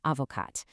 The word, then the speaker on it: avocate: Take un avocat to un avocate. Notice how adding that e suddenly wakes up that previously silent t, so you literally pronounce it.